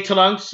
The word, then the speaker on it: Trunks: But most of the time, the only person I've ever heard say Trunks with the U so strong is Goku on certain times, but most of the other characters just say Trunks. It's just the U is silent. It's either silent or it goes by so fast you can't really hear it unless you're purposely listening for it.